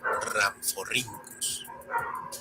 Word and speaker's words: Rhamphorhynchus: Algo similar le ocurre a la RH, pues recibe una pronunciación con una R marcada, como la doble R del alfabeto escolar de antaño. Por ejemplo, tenemos a, que se lee como Rhynchosaurus, o al complicado, que se pronuncia como Rhamphorhynchus.